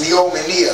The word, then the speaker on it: neomenia: That's neomenia, and that's N-E-O-M-E-N-I-A.